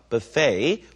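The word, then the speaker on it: buffet: 문제는 지의 강세가 간다는 얘기고 FA FA 이렇게 발음을 해 주셔야 돼요 buffay or buffe stle meal 하는 건 뷔페식 식사를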